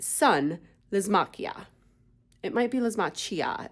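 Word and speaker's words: Lysimachia: It might be Lismachia. It's got the CH, but I like to pronounce that as a K.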